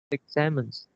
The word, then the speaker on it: examine: The last fault line, in the middle, the words which is examines, and you pronounce examines. Which is the third syllables, and also the stress fall on the second, not the first.